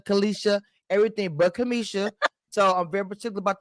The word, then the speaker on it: Cameshia: because ton I was right my name is Kamisha and so my name get called Kamisha Kisha Kalisha everything but Kamisha so I'm very particular about the names okay